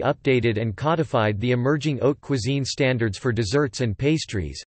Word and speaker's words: haute cuisine: Haute cuisine, pronounced haute cuisine, high cuisine, has foundations during the 17th century with a chef named La Varenne.